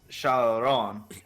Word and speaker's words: Charon: They just pronounce the E like a. Sharon. Sharon, Charon. Alright. like you're French.